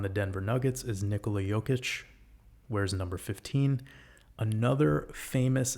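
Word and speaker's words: Jokić: Patrick Mahomes wears number 15, just like Nikola Jokic, I believe is how you pronounce his name. Jokic wears number 15.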